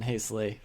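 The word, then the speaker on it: Heisele: on hazel honestly and i'm pretty sure i got that pronunciation from him he went to school colorado of all places i think he's german born i i don't know now um so he said his name that way so i'm pretty confident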